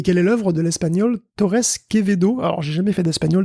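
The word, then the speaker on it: Torres Quevedo: fait plein de trucs le V se prononce B je crois enfin kebedo kebedo à peu près bon désolé je bon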